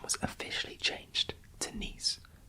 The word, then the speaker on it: Nice: was officially changed to nice like the french city of nice which rhymes with geese however even after 150